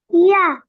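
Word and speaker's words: ي: জিহ্বার মাঝখান, উপরে তালুর সঙ্গে লাগায়।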